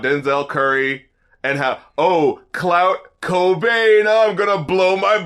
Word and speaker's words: Cobain: is the fact that Kurt Cobain rhymes with brain cuz I am so